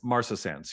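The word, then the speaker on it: marcescens: this um David it's serratia how do you pronounce it uh Martha sentence Martha Sans yes uh so it's a rare opportunistic species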